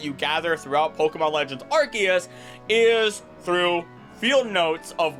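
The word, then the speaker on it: Arceus: wasting your time cuz I know it's archus like ark or however else I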